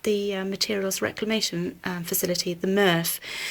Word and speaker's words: MRF: materials reclamation facility, the MRF. The great word, that rhymes with Smurf.